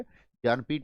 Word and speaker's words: ज्ञानपीठ: इसका सही प्रोनाउंसिएशन होता है ज्ञानपीठ, इसका सही उच्चारण होता है।